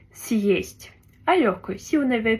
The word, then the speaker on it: съесть: Donc il y a bien le signe dur qui sépare le S du reste du mot. Donc on dit съесть.